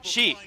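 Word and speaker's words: シ: How do you pronounce that letter in Japanese? Shi. Okay, cool. We're gonna call it Ro. But it's pronounced Shi.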